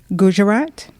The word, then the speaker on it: Gujarat: Okay, so in the state of, and you'll have to help me with my pronunciations, is it Gujarat?